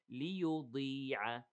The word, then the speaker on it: لِيُضِيعَ: Here the ضاد is heavy, but not all the way. لِيُضِيعَ إِيمَانَكُمْ. So regarding the ضاد, be careful, you know, don't pronounce it as a dal. Don't say لِيُضِيعَ.